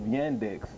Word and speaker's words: Yandex: When you come behind the name of Yandex, it rhymes with spandex.